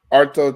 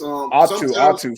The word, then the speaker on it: Atu: Arto Tuoko. Yeah. Now I'm gonna say this. Atu. Sorry, it's Atu.